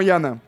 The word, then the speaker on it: Danh: Mais alors Yan, alors ça s'écrit D a H N. D A N H NH mais ça se dit Yan.